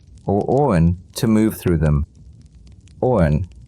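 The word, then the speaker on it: Awen: Owen, a Welsh word pronounced roen, was considered the very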